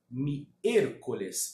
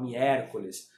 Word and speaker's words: miércoles: Vou explicar a pronúncia dessa palavra, que é miércoles. Pessoal, olha só. O E, em espanhol, ele nunca é aberto, tá? Você vai falar miércoles, você vai falar miércoles, fechando o E, ok?